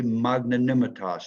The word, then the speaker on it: magnanimitas: Latin and it would be magnanimatos 12 letters five syllables one word it means